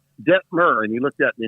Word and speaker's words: Detmer: It's Detmer, okay? Rhymes with fur. Think incense and myrrh. Detmer.